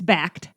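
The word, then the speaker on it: Bakkt: changes officially taking place but backed as b-a-k-k-t by the way and already people on Twitter are like how do you say it so we well people on the news have been getting it wrong too they sure have we were kind of laughing we're like we did one Google search and we found out how to say it it's backed we also saw people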